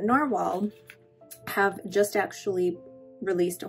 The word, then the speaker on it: Nahvalur: to say is that narwhal or it's now it's spelled novelore but narwhal have just actually released